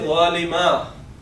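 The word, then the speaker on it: ظالمًا: Okay, but in case of objective case, we write it as this, so that we could say zalima.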